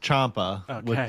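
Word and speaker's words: Ciampa: Chia or Chia? I don't know. But he I believe it's pronounced Champa. Like like there's an H in there.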